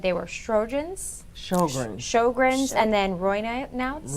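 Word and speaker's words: Sjögren's: And if you can help me pronounce these again, you said they were Sjogren's, Sjogren's.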